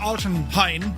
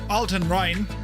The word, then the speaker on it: Altenrhein: So we're going to fly out of uh Altonheine. No, Alton Rin.